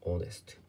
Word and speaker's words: honest: 正直な、正直な、honest です。honest。H で始まって